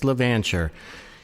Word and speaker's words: LaVancher: and i'm here today with chris levantcher that is how you pronounce it correct it is yeah you got